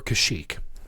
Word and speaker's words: Kashyyyk: Do you pronounce it Kashyyyk or Kashyyyk?